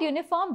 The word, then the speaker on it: uniform: uniform an honorable person the word uniform begins with a vowel but the article a is used with it this is because U does not make a vowel sound here instead it makes u sound some words begin with